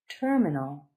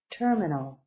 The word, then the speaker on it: terminal: terminal is a noun terminal 3 syllables accent in the beginning so terminal terminal the area or building